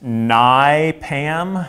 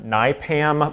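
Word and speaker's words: NIPAM: okay last one if you've seen this is pronounced Nye Pam Nye Pam micro gel so this is a neat polymer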